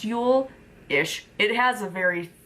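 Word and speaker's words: Yule: differently but it's like J L but it's pronounced Ule is it has a very thick accent attached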